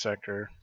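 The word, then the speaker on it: Secre: I mean, her name is pronounced Seker, but I mistaken these two characters because they look the same.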